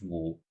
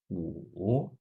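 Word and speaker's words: 五: Outra interpretação associa o som Wu à palavra 5 em chinês, Wu. Também se pronuncia Wu no terceiro tom. Wu.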